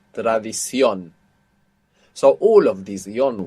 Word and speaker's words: tradición: So the O will have a written accent. That last O will have a written accent on the end, showing you that you're stressing it. Tradición.